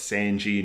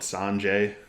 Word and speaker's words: Sanji: Thank you to everybody that has been commenting down a pronunciation guide for me. I now know it's Zoro, not Zolo. I now know it's Sanji, not Sanjay.